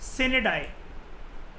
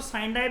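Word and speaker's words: sine die: कई लोग उसको साइन डाई बोलते हैं, pronunciation doesn't matter at ऑल। वैसे प्रॉपर तरीके से अगर आप गूगल पे देखोगे और जो उसका वो नहीं होता बोलने वाला, आप उसको ऑन करोगे तो सिनेडाई होता है इसका मतलब, ठीक है।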